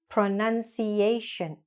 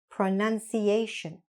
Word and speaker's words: pronunciation: ciation, ciation, nunciation, nunciation, and last, pronunciation, pronunciation.